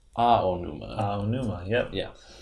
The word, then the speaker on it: Aonuma: When you're pronouncing Japanese words, you always do the vowels distinctly. Yes. So you don't say aonuma, it's aonuma.